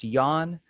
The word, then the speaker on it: Jan: Born in Provo while parents were attending BYU, Jan Curran, pronounced Jan, from Danish Mormon pioneer ancestry, was raised Mormon by devout but eccentric parents.